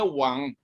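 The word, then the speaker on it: 王: Di bawah telinga ini ada karakter yang warna orange ini adalah bacanya wang, itu artinya raja.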